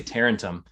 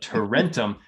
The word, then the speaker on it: Tarentum: and todd i always i always mispronounce it as a renter i always say tarentum but torrentium and i can't get it down as much as i